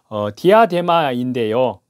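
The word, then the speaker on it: διάδημα: 붉은 용이 머리에 쓴 면류관은 권력의 상징인 헬라어 발음으로요 디아데마인데요 만왕의 왕 만주의 주이신 주 예수님 그리스도를 모방하는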